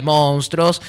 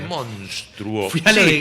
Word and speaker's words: monstruo: Pero dice monstruo. ¿Sabes qué lindo en tu familia cuando vos digas esto es un monstruo? ¿Qué te pasó? Dijiste monstruo.